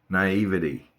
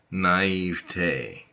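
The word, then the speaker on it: naïveté: word naive it's not naivity naivity has four syllables wrong three syllables the word only has three syllables when pronounced correctly remember that three naive T you heard it from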